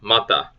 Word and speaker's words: mata: Okay, short A sound, so mata. So, mata is an eye or a face. Both vowels sound like the in butter, so that's a short U sound.